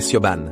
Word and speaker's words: Siobhan: Je m'appelle Siobhan. Le H est muet. Ça se prononce comme Shivan.